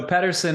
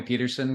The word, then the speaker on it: Pedersen: So Pedersen is the Danish way to say it, but people call me Pedersen because it's just, living where I have for so long, that's just become part of, just part of the vernacular.